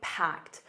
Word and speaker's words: packed: And notice that packed, a soft t at the end, packed. Now the jam is optional. You can simply say packed which means very busy.